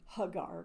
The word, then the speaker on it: Hagar: And I call her Hagar because that's a little bit more proper pronunciation.